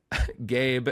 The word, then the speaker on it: Gabe: Gabe, and then I love they give a pronunciation key, and it just says, pronounce like the word gay. Then you add a B sound.